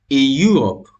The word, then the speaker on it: Europe: de la prononciation ça Europe Europe Europe donc le mot Europe commence par une lettre voyelle est mais au niveau de la prononciation ça commence par un son consne également Europe Europe europeen